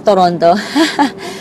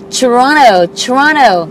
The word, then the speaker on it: Toronto: Ganun daw pong papronounce, eh, no? Hindi po Toronto. Toronto, si Marlon Consular.